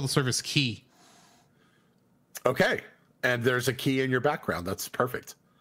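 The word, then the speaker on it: chi: Because C-H-I is how you say the, is how you pronounce the Latin letter that X is based on.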